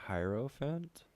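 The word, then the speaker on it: hierophant: Fant here mm-hmm okay it's h IE ro PHA NT i want to say a heirophant yeah it's that okay and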